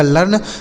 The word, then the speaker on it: learn: ऐसे पढ़ा जाएगा लर्न मतलब होता है सीखना।